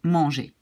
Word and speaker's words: mangé: so we pronounce e, in the past it will be written like e with an accent, but pronounced in the same way, manger. And this is also pronounced like manger. It's the same pronunciation.